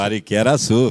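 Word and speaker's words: Pariquera-Açu: na verdade para como que é isso aqui Pariquera suu É isso mesmo pronúncia Pariquera suu fica lá perto da Ilha Comprida eu não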